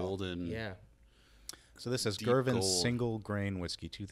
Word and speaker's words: Girvan: Is it Girvan? Correct. Am I pronouncing that right?